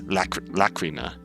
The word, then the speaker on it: Lacrima: Pronunciation guides is Lacrima. Lacrima. I'm just instinctively defaulting to Lacrima for some reason, but Lacrima.